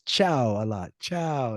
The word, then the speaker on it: ciao: got Juliana who's probably really tired she says CIA a lot CIA it's Italiano ciao so and Chow is not everybody's gonna use it in some